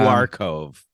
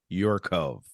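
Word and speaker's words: UrCove: Hyatt your Cove hotels not you are Cove your Cove right that's how the high people pronounce it something like that OV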